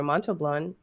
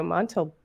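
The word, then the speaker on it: Montalbán: from christopher plummer christopher plummer general chang ricardo monto blonde no but seriously ken from chicago says you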